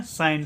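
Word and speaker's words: shine: का उच्चारण करेंगे न, और ई का कोई उच्चारण नहीं होगा। ई जब भी लास्ट में होगा तो इसका कोई उच्चारण नहीं होता है। इसको पढ़ेंगे साइन, साइन का मतलब होता है चमकना।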